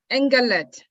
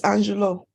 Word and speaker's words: Angelo: call on Brand Ambassador, is it Engelet? Please unmute yourself. I'm sorry if I mispronounced your name. Please unmute yourself and ask your question. Yeah, thank you. It's Angelo.